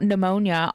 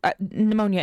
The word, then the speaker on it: pneumonia: It's n the p is silent.